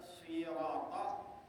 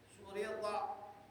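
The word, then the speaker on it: صِراط: Kalau kita baca syirata, ya baca syirata bil kasrah shadnya, nanti mungkin di satu tempat atau seorang imam ada yang baca surita pakai dhamma.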